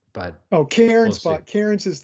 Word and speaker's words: Cairns: Actually, I should say Cairns because you wouldn't pronounce the terminal R with an Australian accent.